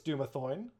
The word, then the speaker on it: Dumathoin: it's Dumathoin. So you read it wrong the first time. You know what happened? Alu mispronounced the characters.